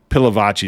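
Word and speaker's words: Pilavachi: by disgraced Pastor Mike palavicy I'm going to pronounce it that way pilavaci is probably how he pronounces it but I like palavaci the Church of England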